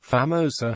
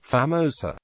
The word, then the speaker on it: A Famosa: The name is often mispronounced, Famosa, even among Malaysians, as though the Portuguese definite article A were the English letter A. A more authentic pronunciation would be Famosa.